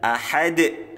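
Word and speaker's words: أَحَد: hu tahu mahal kemudian diakhiri dengan huruf Dal ya huruf Dal ahad ini bacaan Qalqalah kubro huruf Qalqalah yang matinya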